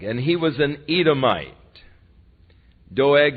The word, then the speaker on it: Doeg: Doeg, and you could very well pronounce it dog, because he turned out to be a real dog.